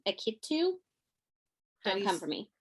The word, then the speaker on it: Akitu: please forgive my pronunciation akitu don't come for me how do you spell that a-k-i-t-u um how would you pronounce it akitu yeah akiti okay oh there you go so